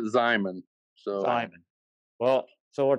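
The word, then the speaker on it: Xiamen: I think everyone has a different pronunciation. I was a Hogue Zyman. I heard the Hogue Jamin. Todd may have another way of saying that as well. Okay. We call it Zyman.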